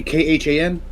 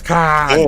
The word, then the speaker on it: Caan: James Caan, Caan! who is Is it James Caan or James Caan. is it Caan? It's Caan? But Caan. then wouldn't it be Khan?